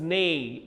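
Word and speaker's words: neigh: nice good and what do horses do horses Nay n e i g h O's his name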